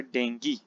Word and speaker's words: dengue: Okay students, हमारे पास जो next हमारी जो डिजीज है वो है डेंगी यानी डेंगू, जिसे यहाँ तो आपको प्रोनाउंसिएशन डेंगू मिलेगी। हमने अक्सर आम जो लैंग्वेज में डेंगी सुना हुआ है स्टूडेंट, ये भी आपकी मच्छर की वजह से ही होती है।